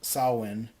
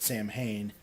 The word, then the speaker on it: Samhain: the hallway name of saawan which that's the celtic pronunciation of it here and here in America most people pronounce it Samhain I was saying this